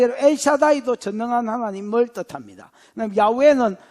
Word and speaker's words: 야훼: 여호와는 여러분 우리나라 말로 된 지 마음대로 발음이고 정확하게 말하면 야훼, 그 다음에 엘로힘, 엘샤다이,